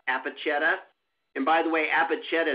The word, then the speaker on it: Apacheta: And before we jump into some more in-depth questions about Apacheta, and by the way, Apacheta is spelled A-P-A-C-H-E-T-A, like Apache with T-A on the end.